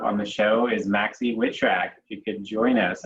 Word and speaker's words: Witrak: going to have on the show is maxie witchrack if you could join us i hope i